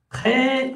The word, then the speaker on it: très: Très bien. Très avec un S qui ne se prononce pas.